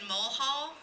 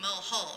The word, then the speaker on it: Mulhall: In addition, we have Mulhall, and is from, I'm always careful to say his name, Suzanne, because I said it wrong for about 3 months. I was calling him Mulhall, and he's Mulhall.